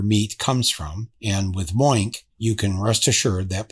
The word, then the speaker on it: Moink: So it's spelled Moink, M-O-I-N-K, Moink.